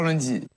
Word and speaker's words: lundi: Well, the interesting thing is that in that case, as you can see, the nasal is not as clear. So basically, it's pronouncing a little bit of N, I would think.